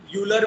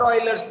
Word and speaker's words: Euler: कभी-कभी उसको यूलर भी बोलते हैं कोई लोग प्रोनाउंसिएशन में, और ऑयलर्स भी बोलते हैं.